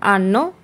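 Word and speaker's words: hanno: লরো আন্ন, তাদের আছে। এখানে বলে রাখা দরকার যে এখানে এইচের কিন্তু কোনো উচ্চারণ হয় না, এইচের উচ্চারণ হয় না।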